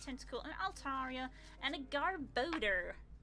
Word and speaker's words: Garbodor: an altaria and a garbodor which i pronounced as garbador for ages until i heard it pronounced in the anime and i was like of course it's garb odor because it's odor it stinks we go another hit